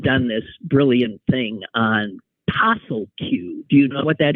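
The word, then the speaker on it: POSSLQ: actually an acronym but if you pronounce it it comes out pel Q came up with a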